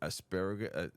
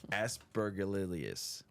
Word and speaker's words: Aspergillus: Asparagus. It's not asparagus for sure. Just so y'all know, it's not asparagus. Aspergillus, which is present everywhere,